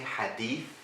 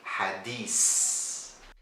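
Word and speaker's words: حديث: thing in Egyptian Arabic this letter is always changed into an S sound or an Arabic scene instead of saying Hadith we say Hadis now another letter that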